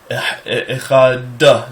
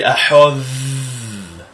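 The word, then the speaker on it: אחד: That's why a lot of people say Echad like that, where it's really Ahad.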